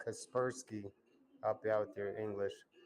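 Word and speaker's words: Kaspersky: __ ] my kasperski so Google translator pronounce it as kasperski that's how it is that sounds good man I don't know over here they they call it Casper sky but I guess the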